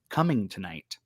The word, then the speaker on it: Cummingtonite: to be talking about a stone that is pronounced coming tonight that is correct yeah yeah so we're going